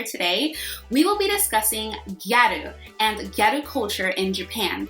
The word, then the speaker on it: gyaru: we will be discussing gyaru and ghetto culture in japan let's get right into it what are geru so garu is actually the japanese pronunciation of the english word girl this is a fashion